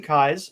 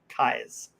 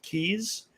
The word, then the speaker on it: Keyes: And but my name is Kynes. Okay, and for those of you that have a challenge pronouncing my name, it's like the I's in your head with a K in front of it. Kynes.